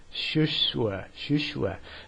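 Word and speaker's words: 数学: In Chinese, the way mathematics is pronounced is shushue.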